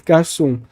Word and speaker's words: garçons: Só que garçom, o S não fica pronunciado tão forte, fica le garçon, les garçons.